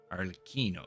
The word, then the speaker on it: Arlecchino: right all right well thanks for everything arino arino that's how it's pronounced no thanks necessary you also played a